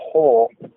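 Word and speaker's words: 法: In Japanese, it's po or ho.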